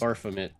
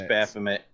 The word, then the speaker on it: Baphomet: Just- Barfamit. I just Barfamit. want to keep messing up Sean's pronunciation of this. Barf. It's Baphomet.